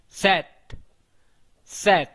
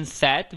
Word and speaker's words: sept: five, six, six, six, sept, sept, seven. Remember one thing here, in sept we will not pronounce this P, okay?